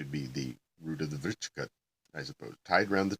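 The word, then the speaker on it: vṛścika: And in transliterated Indian Sanskrit, C is always pronounced ch, because you have a K for the other sound.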